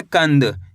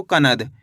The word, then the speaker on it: कंद: कंद। इस तरीके से नहीं पढ़ना आपको। कनद। अगर दोस्तों आप कनद पढ़ दोगे तो यहां पे न का पूरा उच्चारण हो जाएगा। यह गलत हो जाएगा। आपको करण के आधा न का उच्चारण निकालना है।